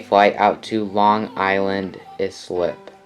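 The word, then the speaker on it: Islip: out to long island is slip is slip yeah that's how you pronounce it moving on to the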